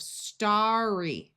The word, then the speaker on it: starry: We add the suffix y and we double the r, but we still keep the root sound of starry.